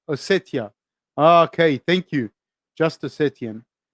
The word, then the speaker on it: Ossetia: Pronounce T, then I. Ossetia.